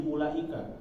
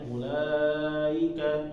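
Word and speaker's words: أولئك: Nah, jangan sampai nanti ketika menemukan kalimat ulaika, jangan sampai bacanya ulaika, ika, I-nya nggak jelas. Jadi harus ulaika, ika, jelas ya.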